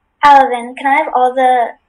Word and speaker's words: alevin: Alevin is the only pronunciation.